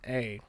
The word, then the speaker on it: Rozanna: Spelled with a Z. So like Rozanna.